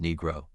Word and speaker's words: Negro: Start with the first syllable, ʻniː. It sounds exactly like the word knee without the silent K.